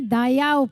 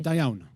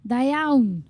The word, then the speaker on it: Da iawn: I decided not to read my Cholo poem, but to read my Dayao poem. Am I getting the pronunciation right? Da iawn. Dayaun, okay. Way before I met Eirik, I met another Welsh poet called Mererid Hopwood.